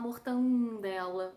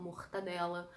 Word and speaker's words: mortadela: Quando uma palavra tem uma consoante nasal, ela tende a nasalizar as outras sílabas. Por isso que a gente fala mortandela e não mortadela.